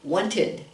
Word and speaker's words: wanted: We don't say want, we say wanted, wanted. You actually add another syllable, wanted, because it ends in a D or a T.